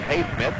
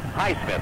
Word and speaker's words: Highsmith: At the line to shoot 2 is Haysmith, makes the first. Highsmith, I guess is the way we should say his name.